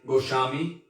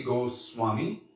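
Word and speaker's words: Goswami: uh language and he would say goshami or goshai this is a bengali pronunciation and then sanskrit would be go swami like that and also it comes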